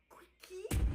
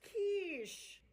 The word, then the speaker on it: quiche: 엄마, it's pronounced quiche.